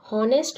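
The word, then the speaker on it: honest: हॉनेस्ट में H silent रहता है, एच, इस पे हमें अंडरलाइन करना है।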